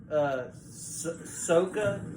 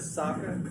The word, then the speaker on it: Sokka: I'd really don't like so Eero instead of Iroh long instead of egg which is the most atrocious one and then Sokka instead of soccer pronounce the agents got